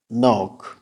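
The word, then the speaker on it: knock: ওয়ার্ডের শুরুতে কে এন যদি থাকে তাহলে কে উচ্চারণ করার প্রয়োজন নেই যেমন নইফ not knowledge নক follow for part two ধন্যবাদ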